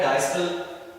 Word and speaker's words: diastole: ये वर्ड जो है डायस्टल, सिस्टल, इसे हम डायस्टोल भी कहते हैं और सिस्टोल भी कहते हैं।